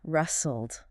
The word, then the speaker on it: rustle: And note that the letter T is completely silent, so it is pronounced rustle.